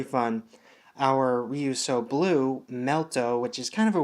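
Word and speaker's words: Melto: of a weird name I might say merit Oh like pronouncing the L as an R just because to make it easier for me but I'll try to say melt O or melt but it's just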